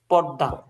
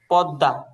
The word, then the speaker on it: পদ্মা: পর্দা, পদ্মা, বুঝছেন? জি। এটা এমটা উচ্চারণ হবে না, এই যে এখানে যে এম দেওয়া আছে, তো এটা উচ্চারণ উচ্চারণ হবে পদ্মা।